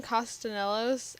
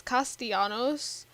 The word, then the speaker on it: Castellanos: last name is, so he calls him Sebastian Castanelos. It's Castellanos. But then in the second game, he pronounces it as Castellanos. It's still Castellanos, but doesn't pronounce it that way.